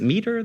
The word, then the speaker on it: MITRE: Is MITRE the right way to say that? MITRE. Oh my God.